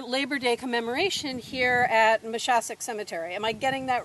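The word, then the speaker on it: Moshassuck: virtually to our labor day commemoration here at machassek cemetery am i getting that right the pronunciation pad not a native rhode islander mashasik okay good um i'm still embarrassed by some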